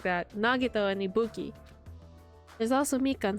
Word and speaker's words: Nagito: Uh Akane, Nag Nagito. Oh my god. What? What am I? Why did I say his name like that? Nagito, and Ibuki.